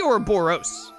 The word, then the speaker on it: Ouroboros: It should be Ouroboros. Ouroboros. Because it's OS at the end. I think I did US at first. It's Ouroboros. Is how I would say it.